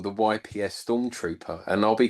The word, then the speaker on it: Yps: I always thought they were initials, but the Germans simply pronounce it and I've got this written down, Yps.